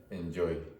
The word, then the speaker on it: enjoy: The pronunciation of enjoy is a bit strange because of the problem that Spanish speakers have very often with j.